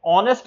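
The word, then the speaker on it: honest: उदाहरण के तौर पर फिनोमिना में पी साइलेंट है, ऑनेस्ट में एच साइलेंट है, लिसन में टी साइलेंट है, साइकोलॉजी में पी साइलेंट है, वॉक में एल साइलेंट है, नाइफ में के साइलेंट है।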